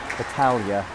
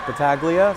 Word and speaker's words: Battaglia: I'll use the Italian pronunciation for any of the Italianish looking names like Battaglia. You might know her as Battaglia, so if you're on the St. James side and that's what you're used to, well, you're getting the Italian pronunciation today.